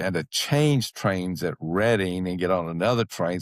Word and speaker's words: Reading: says reading and everybody laughed at me what I called it that because it's not called it's not pronounced reading it's reading reading railroad reading reading station